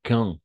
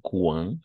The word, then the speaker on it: quand: Entonces, en todos va a empezar por quand, no cuán, sino quand, ¿d'accord? Quand, así se pronunciaría. Quand, sí, un poco nasal, quand, no cuán.